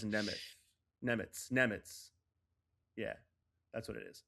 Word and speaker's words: Nemeth: I would have never thought it ended as an S sound. That's crazy. Gotta work on my pronunciation. I knew it was that's what messed me up. I knew it was a weird one, and for some reason I thought it was a TH, but it's not.